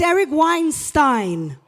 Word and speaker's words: Eric Weinstein: start by respecting the way this incredible gentleman pronounces his name, because I'm very sensitive about the topic. It's Eric Weinstein.